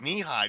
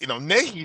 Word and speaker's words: Nehi: had this drink, and I didn't know that it was knee high because it's spelled Nehi, and it's Nehi sounds very Hawaiian, so I'm thinking, and I didn't know that that's what.